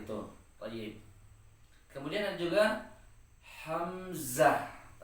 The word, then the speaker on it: hamzah: Kemudian ada juga hamzah. Hamzah ini cara membacanya hampir sama dengan bacaan alif. Alif dibaca a ketika fathah dan hamzah juga dibaca a ketika fathah gitu kan.